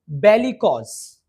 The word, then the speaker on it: bellicose: लड़ाकू को हम बोलते हैं बेलिकॉज. यस, बेलिकॉज. Spelling is BELLICOSE. Once again, BELLICOSE, bellicose. So ask me, क्या आप bellicose, it means लड़ाकू हैं?